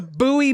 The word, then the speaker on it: Bowie: it's like boy Bo did you know buoy Maryland is spelled like Bowie knife yes I did know